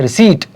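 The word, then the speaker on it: receipt: रिसीट P silent है.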